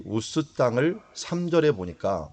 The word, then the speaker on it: 우스: 가우스 땅이다 이렇게 얘기합니다 웃으라고 하는 것을 원래 발음은 우즈 비다 우주 어 우리 영어 이름 중에 우주 라는 이름이 있죠 그게 아마 이 욥의 있는 이 우스 땅에 과 관련이 있는